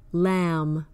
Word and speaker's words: lamb: silent words like crumb lamb plum the B follows the m at the end of the word and that indicates that it is usually silent an exception is the